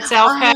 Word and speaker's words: Elke: Did I spell it correctly? Is it? Yes, it's Elke.